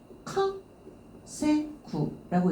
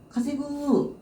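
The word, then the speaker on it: 稼ぐ: 카 똑같이 읽어주게 되는데, 자, 벌가자 훈독으로 읽어주게 되면은 카 세구라고 읽죠. 열심히 일을 해서 돈을 버는 거죠. 오카네요. 가세구 열심히 일을 해서 돈을 버는 건데, 만약에 투자를 통해서 돈을 번다 하게 되면은 모우케루를 쓰죠.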